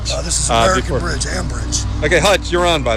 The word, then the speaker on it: Ambridge: Yeah, I was mispronouncing it. Cambridge. This is American Bridge. Ambridge.